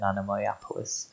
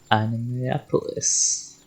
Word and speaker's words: Anemoiapolis: I mean, I personally pronounce it anemoia, but I don't know if that's just me. I suppose maybe it was more American to go Anemoiapolis. Or whatever it was called.